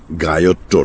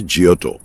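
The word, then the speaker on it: Giotto: গায়ত্র নয়, ইংরেজি উচ্চারণে জিওটো, ইতালিয়ানে জিওটো, জিওটো, বট্টিসেল্লি, মন্টেগনা।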